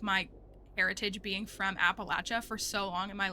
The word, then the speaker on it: Appalachia: I will always criticize how you say Appalachia because Appalachia is correct. It goes back to the indigenous people who live there. Like, it's speaking to how they say it. They're not correct. They are not both correct. They're not. There's a native people group from that region. That's the Appalachee. And that's how they say it. Like, it's actually coming from